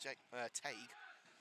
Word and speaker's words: Teague: Prenville off the bombs towards Tag Teague, I should say. I believe it's pronounced Tag.